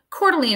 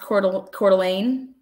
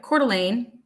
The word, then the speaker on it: Coeur d'Alene: reading his text messages cordeline is pronounced Coeur d'Alene thank you Coeur d'Alene oh great job Lana